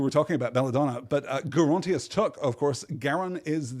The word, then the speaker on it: Gerontius: geriatric right it is usually presented in English as having a soft G I'm assured that Gerontius took has a hard but I guess it could be gerontius right it's a whole